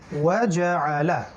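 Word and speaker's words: وَجَعَلَ: ওয়াজা, লাম জবর লা, ওয়াজাআলা ওয়াজাআলা ওয়াজাআলা। আইনের উচ্চারণ খেয়াল রাখতে হবে গলার মাঝখান থেকে।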